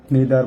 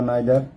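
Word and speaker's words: neither: মধ্যে একজন, নিদার বা নাইদার দুইজনের কেউই না। আবারও বলে নিই, আইদার ব্রিটিশ ইংলিশে আর ইদার হচ্ছে আমেরিকান ইংলিশে প্রোনাউন্সিয়েশন, আর নিদার আর নাইদার তাহলে আইদার নাইদার ব্রিটিশ আর ইদার নিদার হচ্ছে আমেরিকান।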